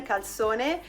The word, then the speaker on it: calzone: Today we're doing my childhood and my sister's childhood favorite type of pizza, which you guys know as calzone, but it's pronounced correctly in Italian calzone.